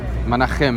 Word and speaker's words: Menachem: Menachem is the correct pronunciation. In Hebrew, CH is Menachem.